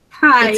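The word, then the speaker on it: chi: pronounce the X - hi X a I I like as in kite okay okay so now we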